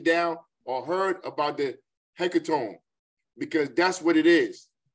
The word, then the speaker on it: hecatomb: We call it a hecatomb. We call it a hecatomb. That's spelled Hecatomb.